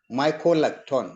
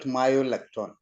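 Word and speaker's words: mycolactone: The pronunciation for the toxin is mycolacton, not myolacton. Mycolacton, MYCO, and completed like that.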